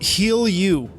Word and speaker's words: Jilu: the name yeah and that it was about healing you it was yeah it's